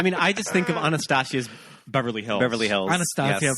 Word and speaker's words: Anastasia: into the actual pronunciation I think Anastasia is not how you pronounce it Anastasia Anastasia it's Anastasia oh oh oh she's